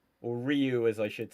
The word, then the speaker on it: Ryu: The character goes Rayu. And so I'd never heard it said out loud. That's all I knew. And the amount of people that was like it's pronounced Ryu.